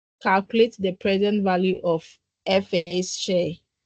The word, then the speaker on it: FA: Okay, so should I pronounce FA or FA? It's FA. Yeah, Effie.